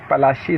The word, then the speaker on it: पलाशी: गांव था, उसका नाम पलाशी था, यानी पलास फूल के नाम पे पलासी पड़ा। अंग्रेजों ने इसका नाम प्रोनाउंसिएशन किया, इसको बदलकर प्लासी कर दिया, पलासी को प्लासी कर दिया।